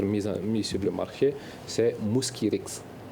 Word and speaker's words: Mosquirix: Le nom commercial sur lequel le vaccin va être mis sur le marché, c'est Mosquirix. Mosquirix.